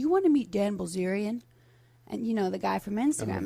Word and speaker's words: Bilzerian: So overnight, obviously, you meet a guy, Dan Bilzerian.